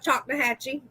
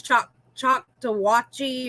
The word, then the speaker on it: Choctawhatchee: yeah um oh and we also have choctawhatchee yes yes yep because i used to think that that was choc choc to watchy or something like that